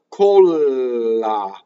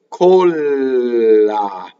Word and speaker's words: colla: Colla. Colla. Okay, so the O is a small O or a closed O versus the next word,